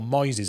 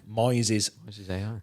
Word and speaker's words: Moises: good I'm really impressed it's called Moises as in noises spelled with an M Moises um the license I